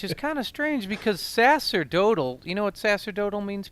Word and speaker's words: sacerdotal: Is that like how you pronounce it? Is sacerdotal, the C an yeah. S sound? Oh, okay.